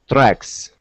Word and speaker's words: tracks: tracks all right okay so here is the trick with the uh TR sound okay you want want to pronounce CHR so whenever you see a TR that's paired together pronounce that like a CHR okay so the word